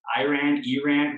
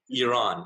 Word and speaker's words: Iran: I know I'm super American, so it's Iran. What's the right way to say that? Good question. Okay, so we start with the pronunciation. Iran.